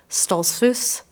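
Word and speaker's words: Stoltzfus: her name is linda stolz voos uh i'll pronounce it properly in pennsylvania dutch stallsfoos um she was abducted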